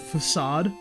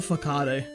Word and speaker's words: facade: The only thing I like to mispronounce on purpose is a when I say the move facade, I like to call it a fakade. I think that one's really egregious.